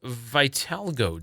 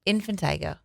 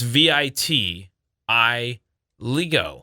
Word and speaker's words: vitiligo: It is also World Vitiligo Day. Is that how you say it? Oh. It's the pigment condition where some of your. Oh, Is that how you say it? infantigo.